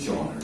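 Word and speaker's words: genre: সংস্থিত জনা লিখবো জি ই এন আর ই জনরে জনরে কিন্তু জনরে কি জনার এনি জনার মিউজিক মানে যেকোনো ধারে অনেক অনেক ধরনের গান আছে এটা বলছে এনি জনার any mode or form created বলতো ক্রিয়েটেড মানে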